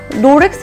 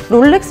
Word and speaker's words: 롤렉스: 이렇게 말도 하거든요 그런것처럼 로렉스 라고 치는 것보다는 롤렉스 라고 쳤을때 더 많은 신뢰할 수 있는 정보가 나오거든요 그런 것처럼 우리가 잘못 알고 있었고 그냥 로렉스 로렉스 했던 것 보다는 정확하게 롤렉스 라고 발음을 하는 게 훨씬 더